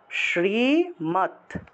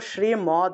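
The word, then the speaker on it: শ্রীমদ্: শ্রীমত উচ্চারণ করতে হবে আমরা তো শ্রীমদ মদ বলে ফেলি অর্থাৎ অর্থাৎ ম দ হসন্ত আছে এটা মদ বলা যাবে না এটার উচ্চারণ হবে মাত শ্রীমত শ্রীমত বুঝতে পেরেছেন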